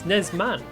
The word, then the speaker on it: Nesman: You know, there's an N at the end. It's NesmaN.